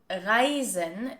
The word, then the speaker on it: Reisen: Reisen is pronounced with a voiced S sound and it means to travel.